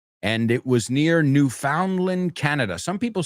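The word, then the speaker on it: Newfoundland: It wasn't Newf Finland. It was New Foundland.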